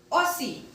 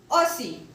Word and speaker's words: aussi: D is not pronounced because in French language the last consonant of any word is not pronounced. So, show. Pauvre. Pauvre. Aussie. Aussie.